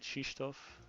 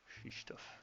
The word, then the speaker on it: Krzysztof: Is it Krzysztof in Polish pronunciation? I don't know. I just know the Polish chess player, and Gotham Chess pronounces it Krzysztof. Krzysztof.